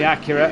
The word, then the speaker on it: Acura: monkey boy in the Acura. Oh, who's that off on the inside line? There was D on the inside. There is, as we say, it's actually pronounced Acura. We've been saying it wrong all this time.